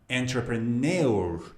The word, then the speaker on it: entrepreneur: People who make businesses, people who make jobs for other people are, how do you pronounce it? Entrepreneur or entrepreneur. No. Entrepreneur.